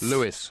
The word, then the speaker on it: Lewes: I don't know, where is, in fact, how is it pronounced? Lewes or Lewis? Lewis. Lewis, yeah.